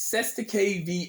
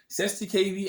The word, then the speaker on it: Cestui Que Vie: what we're going to talk about this is seth's the kv act of 1666. yes people i said it right 70kb act of 16 66.